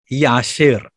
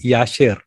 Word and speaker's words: Jashar: The correct pronunciation will be Yashir. King James Bible often uses the word J for year. The correct name of Joshua would be Joshua, and Jashir would be Yashir.